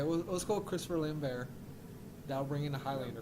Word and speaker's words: Lambert: So, for example, if I was recasting it, my old grizzled cop is Christopher Lambert. I think he could. You think he? It's really? It's pronounced Lambert.